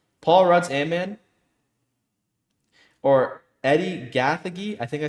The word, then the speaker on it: Gathegi: Paul Rudd's Ant-Man or Eddie Gathegi. I think I said that right. Mr. Terrific. Yeah, Eddie Gathegi. Yeah, Gathegi.